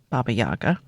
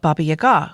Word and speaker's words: Baba Yaga: correct way to pronounce Baba Yaga, Yaga, the emphasis goes on the second syllable.